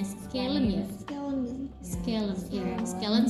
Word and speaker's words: scalene: terus antagonisnya trapezius, habis itu sinergisnya otot yang membantunya itu scalene sama apa ya bacanya? Scalene ya?